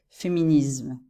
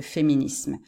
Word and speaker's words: féminisme: rare que ça d'entendre des Français qui vont prononcer tous ces mots avec un Z ok ils vont dire féminisme au lieu de féminisme donc c'est pas vraiment